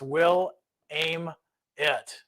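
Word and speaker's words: Willamette: can shoot me joel william matt is pronounced will aim it not will you're killing me i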